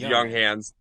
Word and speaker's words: Junghans: It's Junghans.